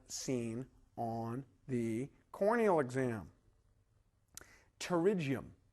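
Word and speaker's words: pterygium: Terigium the P is silent.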